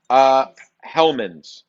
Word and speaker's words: Hellmann's: Well, Hellmann's.